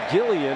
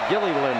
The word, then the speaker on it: Gilliland: But Holly Rowe saw his dad today before the game, and he said our family name is pronounced Gilliland. That L at the end is pronounced.